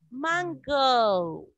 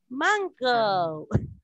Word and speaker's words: mango: Esto se escribe igual en español, igual en inglés, pero se pronuncia así, miren. Mango. Mango.